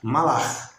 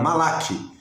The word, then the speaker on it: malach: Se é o Antigo Testamento hebraico, é malach, tá? Ou malach, né? Quem quer uma pronúncia mais refinada aí do hebraico, malach. Mas a gente é portuguesa e a gente fala malach.